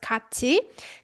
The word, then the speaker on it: 같이: So 같이 is pronounced 같이.